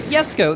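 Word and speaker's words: Jesko: Every so often, somebody still says to me, no, why are you pronouncing it Jesco? There's a J at the beginning. And I'm like, in a lot of cases, a J is pronounced as a Y.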